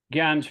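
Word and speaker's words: jñāna: Gyan's pronounced actually, Yeah. it's just like a G, Gyan. Jnana, Like Yawn.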